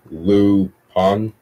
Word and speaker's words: Lupin: And Super Mario Studio says, have you ever watched the Netflix original series Lupin, pronounced Lu Pan?